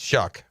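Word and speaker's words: Shough: It's Shuck.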